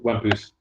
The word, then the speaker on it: Wampus: And Wampus, Frenchly pronounced Wampus, Wampus is a demonic-looking character from the future, an avatar of chaos.